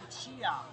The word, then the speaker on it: Lucia: So Lucia. Lucia, kind of like the Lucia. Spanish version. In Italian we say Lucia.